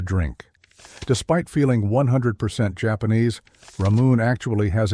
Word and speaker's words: Ramune: The name Ramune is simply the Japanese phonetic pronunciation of the English word lemonade.